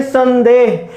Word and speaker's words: संदेह: रहे हैं संपूर्ण और इसका उच्चारण हम कर रहे हैं संदेह, यहां मैं यहां ने, क्यों?